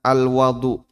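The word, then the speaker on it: الوَضوء: Bisa dibaca al-wudu. Nah, kalau dibaca ini artinya kegiatan. Kalau dibaca al-wadu, ini media untuk wudu. Cuman beda di harokat beda di harokat fathah sama dhamma. Sehingga ada istilah suhur, ada istilah sahur.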